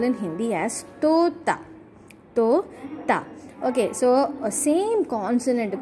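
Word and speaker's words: तोता: symbol of O, and the second ta it's used with the symbol of A. That's why we pronounce it as to ta, to ta.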